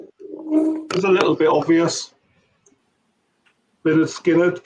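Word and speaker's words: Lynyrd Skynyrd: a little bit obvious lard skinnard pronounced lard skinnard interesting and you know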